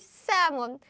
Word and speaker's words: salmon: You still write L, but you don't pronounce it.